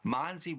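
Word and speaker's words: MONSE: And, as I said this morning, MONSI rhymes with Ponzi.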